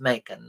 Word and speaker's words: Macon: Now, despite rumors or things that people have said, I did not grow up in Macon, which is actually pronounced Macon, North Carolina.